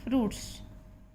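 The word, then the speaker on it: fruits: Next है आपकी eating फ्रूट्स। फ्रूट्स उच्चारण है, इसमें आई साइलेंट है।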